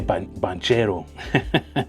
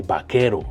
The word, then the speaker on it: Banchero: And um I always say Banchero, but that's not how you pronounce this dude's name. I mean, they're superstar, but yeah, I say Bachero, you know. I think I think that I heard him say Bakero, something like that.